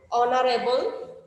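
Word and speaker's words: honorable: উচ্চারণটা কেমন হচ্ছে? অনারেবল, আওয়ার, অনেস্ট, যার কারণে তার পূর্বে কি বসেছে?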